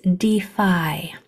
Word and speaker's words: defy: So this word is defy. We were working on that Y making the I sound, usually at the end of one syllable words, sometimes at the end of multi-syllable words, like you can see here.